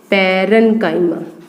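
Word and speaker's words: parenchyma: पैरेन्काइमा, pronunciation सुन लीजिए इसकी, पैरेन्काइमा।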